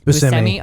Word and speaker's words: Buscemi: Buscemi.